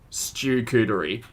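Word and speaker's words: charcuterie: hasn't veronica you're right natalie says stew-cootery perfect perfect that's that's an australian pronunciation if ever i've heard it that was a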